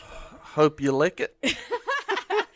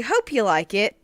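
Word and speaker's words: Hopeulikit: now what would you say that was Mitch hope you lick it that's what I said but no it's actually hope you like it Georgia today we came it looks like hope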